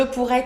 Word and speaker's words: pourrais: Je, tu, il with S, same. Je pourrais, tu pourrais, il pourrait, elle pourrait. Of course, if it's a girl. Il pourrait, elle pourrait. Exactly the same pronunciation.